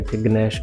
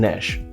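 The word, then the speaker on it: gnash: actual pronunciation is flower same way गनश ji silent है गश गलत है इदी जगह सही प्रोनाउंस करना है नश नेक्स्ट पिन्यू निमोनिया पी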